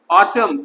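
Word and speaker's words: autumn: ऑटम, N silent है, शरद ऋतु।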